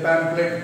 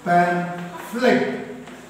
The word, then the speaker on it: pamphlet: all that we tell pamphlet pamphlet that is wrong pronunciation ph is there so p h means f sound the correct pronunciation is pan flip not flat pan flip